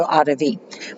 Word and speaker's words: audivi: Okay, and if you're not pronouncing the V as a W, audivi, whichever way.